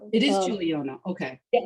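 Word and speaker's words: Guiliano: Jacqu Pepan and Mire Guilliano, how do we pronounce Mire's last name? Juliano. It is Juliano.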